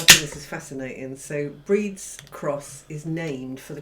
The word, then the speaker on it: Brid's: But when I introduced this in last video, I did call it Bird's Cross Brewing, and it's not. It's It was wrong. Brid's Cross Brewing. A bit dyslexic there. Breeds.